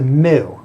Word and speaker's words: mu: It's a Greek letter. It's a mu, M-U.